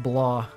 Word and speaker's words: BLA: graduated earlier this year I have my bla it's pronounced blah oh so let me